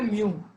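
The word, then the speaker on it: μ: Okay pronounce करते हैं कैसे, इसको प्रोनाउंस करते हैं म्यू, और लिखते हैं ऐसे।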